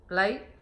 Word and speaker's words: lấy: And this word here, lấy, so you should pronounce as l. And then this is a. And then all this together is lấy. And then this is sắc, lấy. So the word all this together here is lấy.